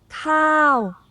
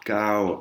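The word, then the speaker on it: ข้าว: Khao. Krao, hein, vous avez bien entendu le KH, krao. Hein. Si vous dites kao, eh ben, ils vont sûrement pas comprendre.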